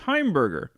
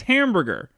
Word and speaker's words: Heimberger: albert plays irving radovich eddie albert actually changed his birth name which was heimberger because he was pron it was constantly being mispronounced as hamburger he was one of